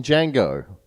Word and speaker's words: Django: are buying slaves like in Django yeah the D is silent especially in the porno